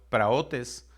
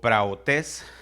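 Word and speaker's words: πραΰτης: Mansedumbre, del griego 42:36, se pronuncia en griego praotes o praotes.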